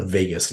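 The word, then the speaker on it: Vagus: of your major organs it's called the Vegas nerve pronounced like Las Vegas spelled a little bit differently that nerve has a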